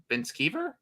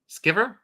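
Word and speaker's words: VanSkiver: Evan Van Skeever? I think it's pronounced Skiver. Skiver? Yeah. Bingo.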